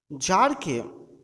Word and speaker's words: Tsar: It once occurred to a certain জার, এখানে টি এর উচ্চারণ হবে না, টি ইজ সাইলেন্ট হেয়ার। জারকে, জার হচ্ছে রাশিয়ার এম্পেরিয়র, রাশিয়ার সম্রাট বা রাশিয়ার রাজাকে জার বলা হয়।